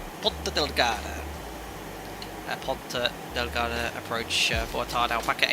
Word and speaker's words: Ponta Delgada: And it is pronounced Ponta Delgada.